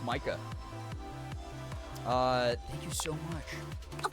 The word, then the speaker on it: Micah: Is it pronounced Mika? I was told it was pronounced Micah.